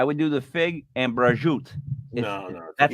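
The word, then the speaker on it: prosciutto: flat bread I would do the Fig and brajoot that's how it's pronounced it's delicious I know I know the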